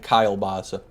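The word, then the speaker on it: kielbasa: Is that how you pronounce kalbasa? I say kilbasa. I've heard it both ways. I've heard it three ways, actually. There's Kalbasa, Kilbasa, and Kylebasa.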